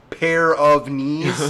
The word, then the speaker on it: Pyrenees: And I don't know how to spell Great Pyrenees, so I'm like, I don't know how it's spelled, but it's pronounced pair of knees.